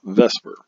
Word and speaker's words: VSEPR: of molecules is pronounced Vesper it doesn't look like Vesper but it is trust me VSEPR valence shell electron